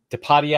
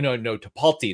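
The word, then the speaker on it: Tipalti: So the intermediaries, the people that are actually Tapadia, I believe, is one of those. No, Tapalti. That's the correct pronunciation.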